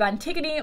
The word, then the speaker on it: Antigone: The next book that I read in January was The Story of Antigone by Ali Smith.